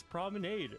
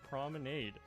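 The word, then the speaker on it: promenade: This is an English word pronounced prominade. People telling me it's wrong are telling me, "Oh, but that's a French word and it's pronounced prominade." No, it's not. The R sound is completely different.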